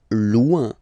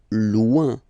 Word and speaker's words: loin: Loin. Loin. So remember when you get this combination O-I-N, it's ouin, ouin, ouin, okay?